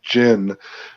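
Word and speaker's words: djinn: that there's um the good people without the gins in them are doing good and they raise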